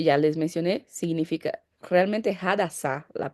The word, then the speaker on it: Hadassah: Su nombre hebreo, como que ya les mencioné, significa realmente Hadassah, la pronuncia correcta.